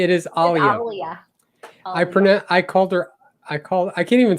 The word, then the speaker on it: Alia: Make sure you pronounce her name correctly. It is Alia.